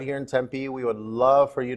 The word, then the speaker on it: Tempe: here in Tempe Arizona sometimes I hear people say tempeh or temp they're not sure how to pronounce it it's pronounced Tempe that last he'd been